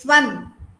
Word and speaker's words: swan: Pronounce. Pooja, very good. Okay, next one. Swan. It is swan.